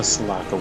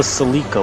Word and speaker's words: Salaka: And the Salaka wood. Not the Salika wood, like Fran pronounces it.